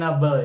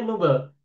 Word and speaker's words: noble: Nabula ini dalam bahasa Inggris artinya nabel ya. Apa? Nabel mulia. Nah, si masternya tuh nobel, Ustaz. Bukan Nabel. Nobel. Nobel. Oh, Nobel ya, Bu ya? Maaf. Nobel. Heeh. Bacanya apa? Pronunciation-nya noble. Nobel, Ibu.